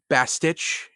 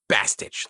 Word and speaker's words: bastich: Also, like, I don't like the way he's pronouncing Bastich. It's Bastich. Like, you little bastard, come over here, you little Bastich.